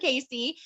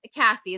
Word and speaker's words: Cassie: from my good friend casey who if she is cassie is how you say her name i was looking at